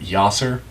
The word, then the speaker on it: Yasser: want to point out that Yasser rhymes with tosser.